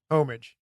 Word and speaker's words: homage: was just paying tribute homage I believe is the wordage homage homage it's spelled that way but it's okay it's pronounced both ways so we got into